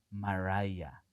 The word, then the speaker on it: Maray: Me llamo Maray Viett. Se pronuncia maraya, que quede claro desde el principio.